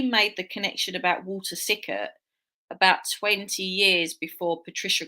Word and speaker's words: Sickert: Walter Stickert. Yeah, Yes, Sick. I interestingly, said the name wrong. Yes. he said he made the connection about Walter Sickert about 20 years before